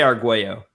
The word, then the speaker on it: Arguello: We say Arguello.